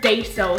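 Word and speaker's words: Daiso: date dye so clay it's kind of spell day so so it's D AI oh let's call psycho don't say it wrong because everybody will attack you for it okay so here's the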